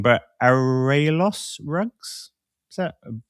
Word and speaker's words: Arraiolos: and I'm going to get this wrong, but Arraiolos rugs? Is that pronounced correctly? That's not pronounced correctly, is it? Arraiolos Arraiolos in Portuguese.